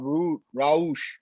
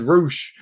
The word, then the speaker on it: Raush: out for so yeah we got roush coming out your pronunciation is much better than mine i i would have i would have said roosh or something like that but you